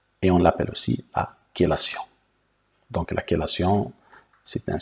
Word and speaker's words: chélation: Donc ça s'écrit chélation, mais ça se prononce chélation.